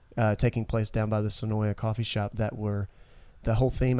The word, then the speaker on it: Senoia: And I know I've heard people say it like it's almost spelled S-N-O-Y, Snoy. Right. You say it Snoy, Senoy, Senoia.